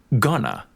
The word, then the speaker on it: going to: Notice the reduction of going to gonna. Are you gonna go to the game?